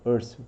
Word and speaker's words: Husserl: É assim que se pronuncia o nome dele, Husserl, tá?